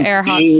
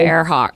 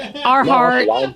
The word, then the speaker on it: Earhart: He could not pronounce Amelia Earhart. That was really the Earhart. part. He said Earhart, Arhart.